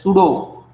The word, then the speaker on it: pseudo: As some of you guys have told me, a p pseudo, or this is written as p pseudo, but it is pronounced as pseudo random number.